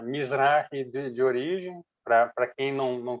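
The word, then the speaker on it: מזרחי: Mizrahi. Mizrahi, acento no I.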